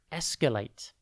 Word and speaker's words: escalate: Today's word is escalate. It's pronounced e-sk-late, and it is spelt E-S-C-A-L-A-T-E. Think esc, then the letter A, and then late.